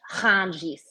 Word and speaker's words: Rungis: And that is now one of the largest markets in the entire world called Rungis, but you have to pronounce it French, Rungis.